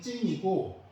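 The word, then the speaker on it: 晉: 두 진나라가 다 진나라지만 여기 삼가 분진의 진은 찐이고 천하통일한 진나라는 친이라고 발음하기 때문에 구별이 되죠.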